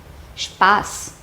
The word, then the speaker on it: Spaß: Another one, Spaß.